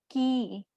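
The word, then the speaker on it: き: It is pronounced as ki.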